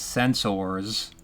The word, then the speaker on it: sensors: And I think Nimoy originally pronounced it as Sens-oars, OARS, so that Spock can sound alien, and he just stuck with it.